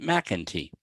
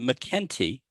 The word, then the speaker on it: MacEntee: capital N te and most people pronounce it mckinty I pronounce it mcken as if the a were not there and there's a whole